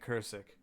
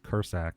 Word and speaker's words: Krsak: So my last name is pronounced Kursak, and it's spelled Krsak.